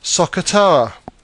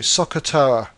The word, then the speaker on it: SOHCAHTOA: most popular ways is a phrase which is pronounced Sakura I'll just write it for you Sakura like this what this is really trying to